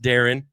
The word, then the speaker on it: Darian: and it is pronounced Darren. Uh the I is silent in the most annoying way possible. But hey, that's my guy.